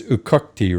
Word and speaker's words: Uqaqti: And I want you to pronounce, it's Uqaqti, right?